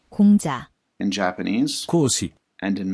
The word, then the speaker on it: 공자: In Korean, it is pronounced, 공자, in Japanese, 講師 and in Mandarin.